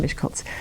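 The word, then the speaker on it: Miskolc: So, um, anyway, that's it's pronounced Mishkultz.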